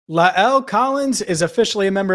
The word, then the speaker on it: La'el: l which um i gotta be honest i got wrong a lot of people got wrong thanks to the great dan horde for asking what his first name was so now we can all say it right la el